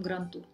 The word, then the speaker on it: Гран-тур: Точно так же и с выражением «гран-тур». В итальянском языке вообще буква «д» потерялась, как и в русском.